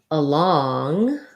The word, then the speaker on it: along: And then along, we have again a schwa, second syllable stress, but in law, long, I have the ah vowel and an NG sound. So that's more like long, along.